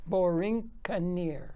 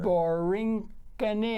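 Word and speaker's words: Borinqueneer: Borincaneer. Borincaneer. No, bore, like bore. boring, bore. Boring, yes, boring. Borincaneer. Borincaneer. Borincaneer.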